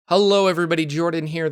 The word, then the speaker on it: Jorphdan: Hello everybody, Jordan here. The PH is silent.